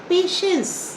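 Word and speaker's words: patience: इसको हम प्रोनाउंस करते हैं पेशेंस, लेकिन लिखते क्या है बेटा? पैटियंस, पैट, PAT, पैट लिखते हैं ना बेटा. एंस, IENCE, लेकिन हम कहते क्या है बेटा? पेशेंस. लिखते हैं पैटियंस.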